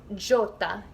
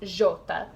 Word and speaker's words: Jota: So J is called Jota. You would pronounce it as Jota.